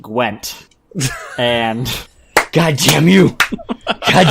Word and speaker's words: Gwent: First off, D, it's pronounced Gwent.